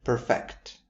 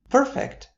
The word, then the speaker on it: perfect: Coming next are the duo perfect and perfect. Perfect.